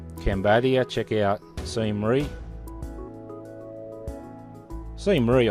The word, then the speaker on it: Siem Reap: check out the scenery see Murray I think that's the pronunciation most Westerners call it seen reap the see Murray the locals from what I heard see Murray anyway go and check